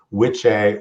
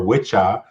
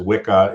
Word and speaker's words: wicca: we didn't even find the old english or middle english word which a or wicha um which gets mispronounced as wicca in in the modern